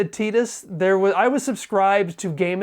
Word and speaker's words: Tidus: People debate whether it's pronounced Titus or Titus. When it was finally spoken aloud in English in Kingdom Hearts, they said Titus.